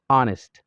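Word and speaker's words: honest: آنست، آنست کې ګوره د اچ توری ډېر کم تلفظ کېږي. آنست. حتی کله کله داسې ویل کېږي چې مطلب هېڅ تلفظ کېږي نه، همان ډېر نرم تلفظ کېږي.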